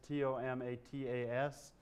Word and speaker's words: tomatas: Jefferson spelled tomatoes T-O-M-A-T-A-S, suggesting he was pronouncing them tomatas.